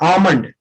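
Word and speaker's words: almond: इसको बोलते हैं बादाम, आमंड, बादाम, आमंड। एल साइलेंट रहेगा, हाँ, एल साइलेंट।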